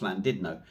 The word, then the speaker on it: Llandudno: Now, I don't know if Didno, whether it's supposed to be said like that, because you say Llandudno is actually pronounced Llandudno.